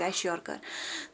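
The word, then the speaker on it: kwashiorkor: यहाँ पे के साइलेंट रहता है तो इसकी जो प्रोनाउंसिएशन है दैट्स वेश्योरकर।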